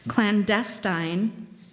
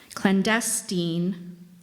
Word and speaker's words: clandestine: there any alternate pronunciations there are a few clandestine clandestine or clandestine was the definition of